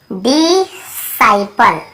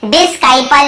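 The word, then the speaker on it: disciple: यहाँ पे भी हम इसे डिस्काइपल या डिसाइपल ऐसे ही पढ़े, केवल डिसाइपल पढ़े।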